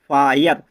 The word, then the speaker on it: fire: तो दोस्तों FIRE फायर, HIRE higher, WIRE वायर, मतलब आई के बाद RE आ रहा है ना, तो आई के बाद क्या बताया था हमने, आई के बाद RE आए तो उसको AE से पढ़ना चाहिए। क्या पढ़ना है हमको, आय से पढ़ना है।